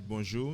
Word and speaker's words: bonjour: This is bonjour. That's the same bonjour. Bonjour. It's the same word the French would use. We say bonjour.